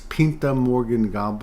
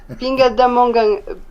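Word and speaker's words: Pindamonhangaba: It's the city my friend lives in is, I think it's Pinta Morgan Gamba or something like that. Ah. How do you say it? Yeah, it's not exactly this, but it's similar. Pinga da Mongangaba.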